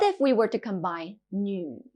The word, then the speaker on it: 女: 女 female. 女女. This character can be a bit difficult to pronounce. It sounds a bit like a crossover between nu and ni.